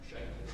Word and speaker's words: Shank: Is it Mr. Shank? Shank.